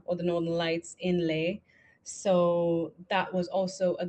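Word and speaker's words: Leh: The second one that they're building, where I think it must be final now, it must be done is in Lei, which is spelled as L E H.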